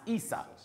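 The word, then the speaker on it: عيسى: In Arabic, Esau is pronounced Isa.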